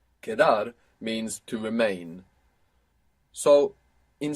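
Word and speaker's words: quedar: be left over q-u-e-d-a-r kedar and q-u in Spanish is always a k sound you must resist any temptation to pronounce cuedar if you were to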